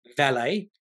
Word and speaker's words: Vale: between BHP Brazil and valet valet that's how you pronounce it not V valet uh anyway so the